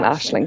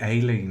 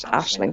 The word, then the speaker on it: Aisling: I used to just say Aileen. That's not a name I've heard of before, and that's like, no, it doesn't sound right. Yeah, I called Aisling, Ailing, Aileen.